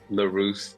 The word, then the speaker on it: Leruste: my great friend Mark larus did I say that right you did you know what even before you hit record I was gonna like I'm just gonna see how he's gonna get along to pronounce my name I remember nailed it you nailed it well done yeah yeah